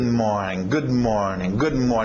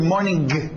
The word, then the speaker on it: morning: O problema é que o português vê ING e nós queremos dizer esse G. Acaba saindo good morning, dizendo o G na garganta como goiaba.